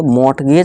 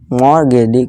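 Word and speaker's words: mortgage: मॉर्गेज ठीक है दोस्तों इसे मॉर्टगेज नहीं पढ़ेंगे मॉर्गेज क्योंकि देखिए हमारा जो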